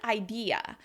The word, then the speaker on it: idea: I'll link to below, the sound between the two vowels needs to be the y, right? The y or the y, the Y shape of your mouth.